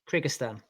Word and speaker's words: Kyrgyzstan: Lastly, staying in, how do you pronounce it, Jay? Kyrgyzstan.